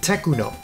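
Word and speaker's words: Tecno: So to counter that, they started removing the H, making it more obvious that it's pronounced Techuno and used it that way in most company ads, box art, and CDs.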